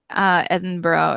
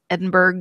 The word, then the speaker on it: Edinburgh: Although in Texas, Edinburgh is Edinburgh. It's got the hard G at the end.